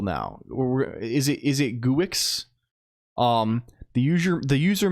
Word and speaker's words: Guix: is it is it guix um the user the user manual says Geeks um can we can we see it's pronounced like Geeks I don't know why